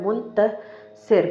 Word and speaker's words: मुंतसिर: Next नाम हमारी list में जो है वो M से स्टार्ट हो रहा है मुंतसिर। मुंतसिर यानी कि फतेहमंद। इंग्लिश में मुंतसिर मीन्स विक्टोरियस। मुंतसिर को आप स्पेलिंग में MUNTASIR मुंतसिर लिखेंगे।